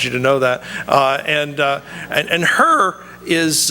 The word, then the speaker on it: Hur: And Hur is it's actually pronounced like her, like you got to cough something out.